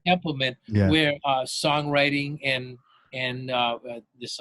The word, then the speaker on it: Templeman: I can never pronounce Templeman, I think, right? Templeman, Yeah.